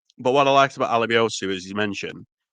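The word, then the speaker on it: Alebiosu: Alabiosu. Alabiosu. I was about to say Alabiesu. So there you go. That's where I was butchering another name there.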